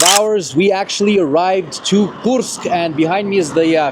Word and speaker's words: Kursk: So we are driving to Korsk. Did I say it right? Kursk.